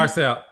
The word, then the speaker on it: Garcelle: Garcelle.